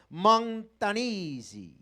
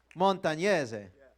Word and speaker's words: Montagnese: close quote, by Francesco Montanisi. Where is it? Francesco. Did I say it right? Montanese? Montagnese.